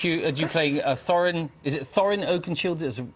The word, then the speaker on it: Thorin Oakenshield: You playing Thorin, is it Thorin Oakenshield, is the correct way to pronounce it? Thorin Oakenshield.